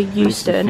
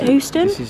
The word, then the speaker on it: Euston: Ebbsfleet to St Pancras and St Pancras to Euston. Is it Houston?